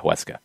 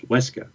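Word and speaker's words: Huesca: wanted to hear i i think maybe you were a little strong in the w with uh hueska it's not a w it's wesco it's not a w it's not it's not a w no there's no w there let's go sure we'll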